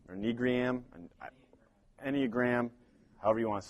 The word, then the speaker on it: Enneagram: but this how do you say that the Enneagram road back to you there you go so